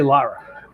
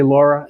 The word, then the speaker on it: Lara: You say Lara. Yes. Does everyone say Laura and you hate it? My family actually calls me Laura, and I don't like it, yeah.